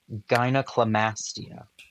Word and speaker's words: gynecomastia: Gynecomastia.